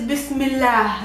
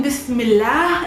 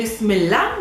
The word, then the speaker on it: Bismillah: one whole expression bismillah pronounced by arabs is bismillah that's the correct pronunciation bismillah if you don't want to make the edge towards the ending very like strong you can just say bismillah which sounds a lot like that one repeated